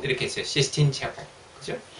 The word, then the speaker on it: Sistine Chapel: 저는 사실 이렇게 시스틴이라기보다 시스틴으로 발음을 많이 했는데 이분은 분명히 Sistine Chapel 이렇게 했어요. Sistine Chapel.